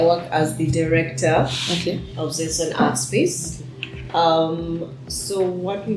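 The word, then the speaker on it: Xenson: We are here with Dorothy Nabunjo, and we are at the Zenson Art Space. So that's Zenson with an X. For all of you who have been wondering how it's pronounced.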